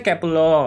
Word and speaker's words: Kep1er: Iya, ini bacanya Kepler.